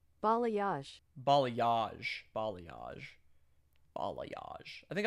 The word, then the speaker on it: balayage: That's the gradient How do you pronounce this word? Ba ba. Ballay. Balayage.